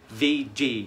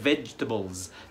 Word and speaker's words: vegetables: الكلمة السابعة اللي بعد كده معانا برضو فيها حرف مش هيتنطق، وناس كتيرة بتقولها veggie، لا، هي vegetables. مفيش حرف الاي اللي بعد الجي ده، مش هننطقه، vegetables.